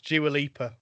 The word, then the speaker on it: Dua Lipa: By the way, it's Dua Lipa. Oh, thank you. I wasn't sure how to pronounce it.